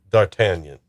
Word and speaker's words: D'Artagnan: Michael York plays D'Artagnan. D'Artagnan. Yeah, I'm trying to do it French, and it's D'Artagnan.